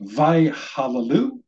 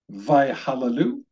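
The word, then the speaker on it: וַיְהַלְלוּ: This word at the end of the first line is pronounced vayhallelu, vayhallelu.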